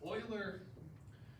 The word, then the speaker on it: Euler: And people always mispronounce this name. But Euler, literally like a demigod mathematician.